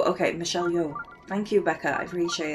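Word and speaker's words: Michelle Yeoh: By the way, Michelle Yo's name is pronounced like Yo. Okay, Michelle Yo.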